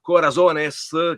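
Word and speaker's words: Corazones: fatto questo film che si pronuncia Corasones che è plurale.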